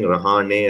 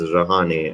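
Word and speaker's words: Rahane: zealand and australian commentators high time they start pronouncing rouhani as rouhani and not rouhani open stance there by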